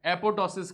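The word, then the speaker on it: apoptosis: को natural death को अपॉटोसिस कहते हैं क्या कहते हैं इसको कहते हैं इसमें एक जो पी है वो साइलेंट है यह जो बातें हैं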